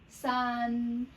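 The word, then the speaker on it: 四: How we say number two? R. Number four is the same tone we pronounce as S. S. Your voice drop from very high to very low.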